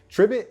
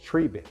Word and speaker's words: Tribit: dog on time Richardson because it's not triet it's not triet it is trivit they actually told me